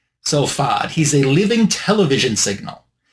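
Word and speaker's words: Fasaud: Uh it's spelled F A S A U D, but I checked and it says it's pronounced FOD. F Ah- O D. So FOD, he's a living television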